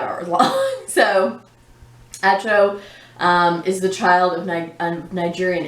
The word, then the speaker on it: Acho: This was by Emmanuel Acho. I think Acho is how you say his name.